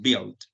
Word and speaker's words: build: Recuerden, la U no se pronuncia, no decimos build. Quiero que si quieren y les interesa la pronunciación, la U no se pronuncia, el resto se pronuncia normal. Decimos build.